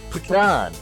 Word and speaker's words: pecan: Pecan. What do you say? Pecan? That's not right. It's pecan. You say pecan? If you're saying pecan, you're saying it wrong. Pecan. No, that's not right. That's not right. Nope. Are you peeing in a can? It's pecan. It's pecan.